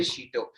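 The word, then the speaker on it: shito: is your thumb size that's called a sheeto it's called a cheeto and it's spelled s-h-i-t-o cheeto here so that is why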